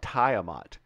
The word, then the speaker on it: Tiamat: that's good tensor obvious Tiamat Tiamat I should call it tayamat when I was a kid I had a character I named my character Tiamat hey it was only like 13. it's Tiamat which sounds very feminine female dragon anyway right